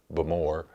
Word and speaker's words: Bowmore: places you can stay Bowmore or they pronounce it but more you could stay there